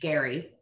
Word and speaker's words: Gerry: term actually comes from governor elbridge gary i don't know why we pronounce it differently but we do so he was the